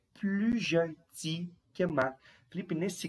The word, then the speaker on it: plus: Felipe, nesse caso, você não pronunciou o S da palavrinha plus. Não, aqui a gente não pronuncia, pessoal. Quando nós temos esse tipo de comparação, estou comparando adjetivos e advérbios, o S aqui não será pronunciado, tá?